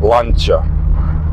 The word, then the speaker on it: Lancia: um by the way it should be pronounced lancha but it's too strange for me and I I never